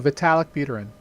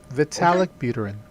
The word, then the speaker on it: Vitalik Buterin: No, Vitalik Buterin. Is that how you pronounce it? That is correct, yes. Okay. Vitalik Buterin.